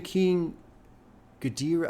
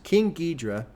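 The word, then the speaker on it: King Geedorah: red and gold featuring King gadir I thought this was a different person oh gidra I'm sorry okay is one of MF Dooms mini aliases okay so King gedra is that that's how they say it yeah King gedra is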